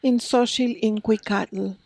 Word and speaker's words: In xóchitl in cuícatl: Gabriella Gutiérrez y Muhs, the primary author of this new Chicano poetry anthology, which I will let her pronounce once again. In xóchitl, in cuícatl.